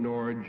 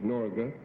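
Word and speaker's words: Norge: who flew the dirigible as we call it norj and as the right pronunciation is norga uh he flew it to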